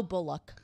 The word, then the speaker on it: Bullock: basis no bo bo Bullock I'm sorry or Bullock how would you how do you pronounce that is it bu so I had it right the first time yeah it just you